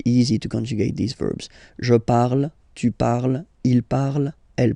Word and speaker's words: parle: to pronounce it is je parle. Parle. So remember, we put it, okay, but then we don't really pronounce it.